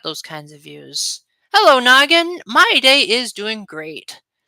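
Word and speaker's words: Gnoggin: And that's what the YouTuber with the name Noggin, it's spelled like good Noggin, like G N O G G I N.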